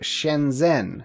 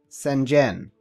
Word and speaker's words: Shenzhen: Take for a totally random example, Shenzhen. How do you say it? What's the Z doing in there? Can you just ignore the H? Spoiler warning, you can't.